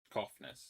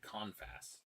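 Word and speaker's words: Cofnas: The allegations came from another academic, Nathan Koffnes, who was Koffnes. That's how it's pronounced. He said Confess. This guy said Confess and the other.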